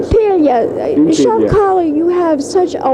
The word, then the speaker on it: Impiglia: Impiglia. Yes, that's the correct pronunciation. Impiglia.